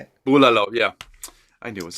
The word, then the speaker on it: bulalo: Bulalo, yeah.